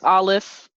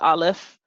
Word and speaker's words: Aleph: So the first letter there, all right, here's Aleph. That's the name of it, Aleph. You can spell it A-L-E-F or A-L-E-P-H.